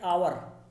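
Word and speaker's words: hour: जैसे एन आवर, आवर का जो प्रोनाउंसिएशन आ से होता है, एच से नहीं हो रहा है, इसलिए इससे पहले हमने एन लगाया।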